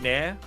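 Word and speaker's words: NieR: N like like the hair removal cream. Near near near, which is where the cat sound comes in.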